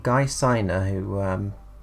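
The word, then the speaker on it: Siner: a guy called guy signer who um i think is pronounced silent who is very famous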